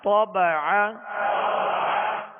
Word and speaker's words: طبع: طبع. طبع. طا کو پر پڑھیں گے اور عین کو درمیان حلق سے ادا کریں گے.